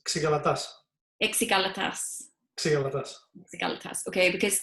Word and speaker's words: Xygalatas: It's not easy. It's Xygalatas.